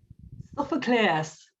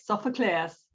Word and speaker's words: Sophocleous: what is the correct pronunciation of your last name? It's a mouthful. Sophocleous. Sophocleous? That's correct. Sophocleous.